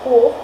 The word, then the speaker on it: Quf: Then we'll go to Quf. That's a K or a KH sound.